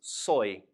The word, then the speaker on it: soy: gonna write s Oh Y and that is pronounced soy now in this middle box here I'm gonna